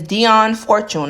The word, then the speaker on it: Dion Fortune: Her name is Dion Fortune.